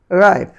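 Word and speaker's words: ripe: এই পেজে সর্বশেষ হয়েছে রিপ, রিপ তাহলে এটি হওয়ার কথা রিপি বা রিপে, কিন্তু না সেটি হয়নি, হয়েছে কি রাইপ, রাইপ, রাইপ।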